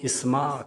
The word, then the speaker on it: اسماء: پر نام ہے اسماء۔ اس نام کا درست تلفظ اسماء کے معنی ہے بلند۔ یہ نام بہت ساری